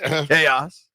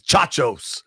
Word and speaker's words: chaos: She she pronounced chaos the word ch h a o s chaos as chachos.